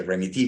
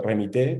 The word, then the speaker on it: Remitee: Sí, bueno, se llama remití o remité, como lo quieran pronunciar. Es una palabra Spanglish de alguna manera, porque también existe una